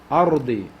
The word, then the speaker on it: أرض: When ra has a sukun, or when ra is a sakin, the letter before has a fatha, we pronounce it with tafkhim. So heavy. Ard.